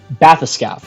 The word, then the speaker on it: bathyscaphe: Bathyscaphe. You pronounce it bathyscaphe.